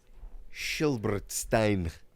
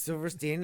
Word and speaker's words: Silverstein: it said episode three I believe it's pronounced silberstein it's Silverstein as in sh Silverstein that wrote the books I I can name